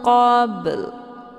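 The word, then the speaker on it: قبل: Min qabl, ada bunyi L di ujung.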